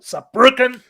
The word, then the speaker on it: Saarbrücken: Anyway, I am but Pharaoh if he wants to pronounce it correctly, you have to do it like Rob does, with power, push it through, Saarbrücken.